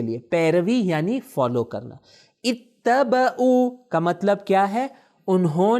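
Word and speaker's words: اتَّبَعُوا: تلفظ صحیح کیجئے. دیکھیں ای پہلے کیا ہے یہاں پہ؟ کسرہ. ای ت ب او. دیکھیں ای ت ب او. اتبعوا. اتبعوا یعنی انہوں نے پیروی کی.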